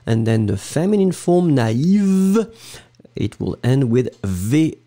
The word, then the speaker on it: naïve: first A, na, and then separately you will pronounce the I, naïf, naïve.